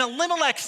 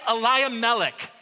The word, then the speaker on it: Elimelech: And Elimelech's name means, God is king. But if some of the sages pronounce it differently, they say Elimelech, and that means kingship is due me.